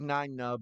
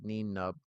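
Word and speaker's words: Nien Nunb: So yeah, so he's Nine Nub, but it looks like it's spelled like Neen Nub, which sounds like Ewok talk.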